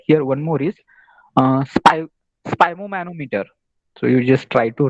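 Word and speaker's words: sphygmomanometer: one more is uh spy spom manometer so you just try to read it very carefully and its pronunciation if you're not able to get it that is spy manometer and you should check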